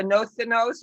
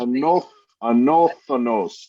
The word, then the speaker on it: Anodunos: Anodunos. Am I pronouncing it right? Anodunos? Well, the actual Greek, they put a TH in there, Anodunos, but what we're keeping is Anodunos.